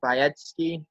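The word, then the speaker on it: Biadasz: of hype around Tyler Tyler by etske I believe is how you say his last name from Wisconsin but he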